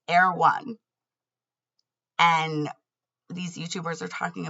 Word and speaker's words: Erewhon: And the name is Erewhon. And now I'm saying it differently because I know how it's spelled. But what I heard every time was Erewhon.